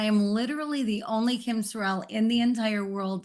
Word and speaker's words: Sorrelle: find because I am literally the only Kim Sorel in the entire world spelled my way because there are way too many letters there's two r's two e's two L's s-o-r-r-e-l-l-e Sorel and so uh I am the only one